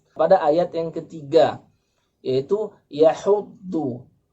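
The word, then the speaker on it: يحض: Pengucapan do. Do banyak yang salah. Makhraj huruf do yaitu adalah hafatul lisan ma'al adras. Tepi lisan baik yang di kanan maupun yang di kiri itu melekat pada gigi adras.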